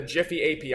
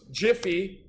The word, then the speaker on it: GIPHY: for today we're going to be using the Jiffy API so before anyone gets started if you want to head over into your browser and just Google Jiffy um some people pronounce it giy you are